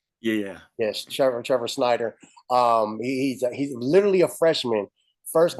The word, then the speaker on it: Schneider: Yes, Trevor Snyder.